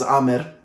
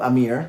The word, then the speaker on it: Amir: My name is Amir, not Amir.